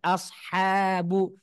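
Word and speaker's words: أصحاب: Ayat ke-18 ulaika ashabu juga membacanya harus dilemesin huruf e huruf hannya ashabu dan shnya shnya tebal SH tebal ha tipis ashabu Nah jadi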